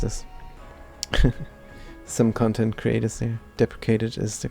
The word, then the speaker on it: deprecated: And we wonder how that is pronounced. Deprecate. Deplicate. Deprecated. We were correct cuz we did see some YouTube content creators say depreciated.